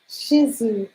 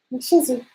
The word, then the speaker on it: Shih Tzu: Shih Tzu. I know how to spell it. SHITZU, Shih Tzu. SHIH. There's a T in there somewhere. T. The second word is. Okay, the H is silent. Shih Tzu.